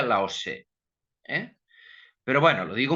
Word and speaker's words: Lao Tzu: Eh, Aunque ahora se escribe como aquí Lao Tzu, se pronuncia Lao Tse.